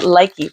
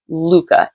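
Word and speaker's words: Lykke: And yes, I know it's spelled L-Y-K-K-E. I've been calling it Likey for the longest time because I likey them so much. Actually, the pronunciation is Luca.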